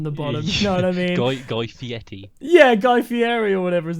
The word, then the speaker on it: Fieri: this is the thing if you say fiety you sound clapped but that's actually how you say it i know fieri or